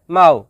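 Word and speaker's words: mahu: শব্দটি লেখার ক্ষেত্রে লিখতে হয় মাহু, তবে এর সঠিক উচ্চারণ হবে মাও।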